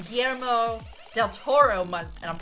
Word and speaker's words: Guillermo: It's pronounced Guillermo.